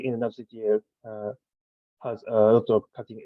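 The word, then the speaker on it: nerdctl: NADCTL is acronym of Container D CTL, but it's pronounced like NADCTL.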